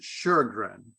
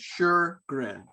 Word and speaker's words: Sjogren: Well, so I pronounce it Sjogren, like S-H-U-R-G-R-N, because there's an umlaut in over the O in Swedish. I've got a Finnish father. It gives it an sound. So just imagine it's Sjogren.